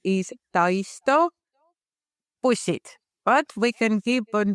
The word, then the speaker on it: Taisto Bussid: How do you pronounce the company name? Hello everybody. The company name is Tyto Pusset, but we can keep on the shorter version, Taisto Company.